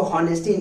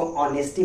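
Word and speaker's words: honesty: इसको होनेस्टी नहीं पढ़ेंगे मेरे प्यारे बच्चों। इसको ऑनेस्टी पढ़ेंगे।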